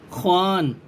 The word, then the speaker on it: خوان: شین زیر حس خواہش۔ ہجے میں واو کا نام نہیں لیا جائے گا، البتہ اس کا رواں پڑھنے میں واو کی آمیزش شامل رہے گی۔ رواں پڑھتے ہیں خود، خوش، خوان، خواجہ، خواہش۔ نیچے جملے